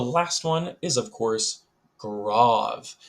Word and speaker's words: Grave: one is of course grav it is not pronounced grave sadly um but you can